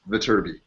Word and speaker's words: Viterbi: Adam, let me be the first to tell you that Viterbi is pronounced Viterbi.